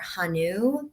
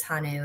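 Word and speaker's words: 한우: feed those to their Hanu cattle, and so. Really? Yes, and I believe it's Hanu is how you pronounce it, but That sounds um right to me.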